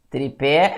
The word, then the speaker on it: tripé: que acontece por exemplo com a palavra tripé tripé é uma palavra oxítona a sílaba tônica é a última tem a palavra se